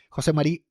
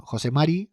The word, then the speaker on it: José Mari: Por ejemplo, vino José Marí, eh, no, perdón, José Mari, aprendí a pronunciarlo ya, Ardanás de se vino